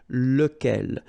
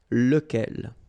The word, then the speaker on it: lequel: So remember, you've got to pronounce it lequel. Even if you've got this QU, okay? Remember that this U phonetically doesn't exist, so lequel.